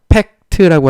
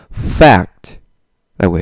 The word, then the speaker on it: fact: 한국말로는요. 팩트라고 하지만요. 영어로는요. fact라고 해요. 자, 들으셨습니까? fact. 한번 따라해 볼까요? fact. 네, 좋습니다. F 발음 아까 말씀드린 것처럼 하시고요. 한국말처럼 팩트 이렇게 하시면 안 돼요.